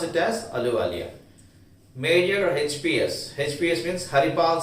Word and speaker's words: Ahluwalia: Ahluwalia, here the spelling is Ahluwalia, but H is silent. So we have to pronounce it as Ahluwalia.